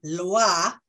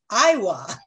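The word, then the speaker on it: lwa: the script about the Loa um Spirits in Haitian Voodoo which is spelled l-w-a and pronouncing it Iowa as if that was an i and there was no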